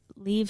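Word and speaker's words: Liev: what's the guy's Leave Schreiber was? Leo. Lev? yeah. How do you pronounce that name?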